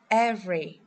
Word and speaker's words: every: As you can see, we don't pronounce the vowels in these words.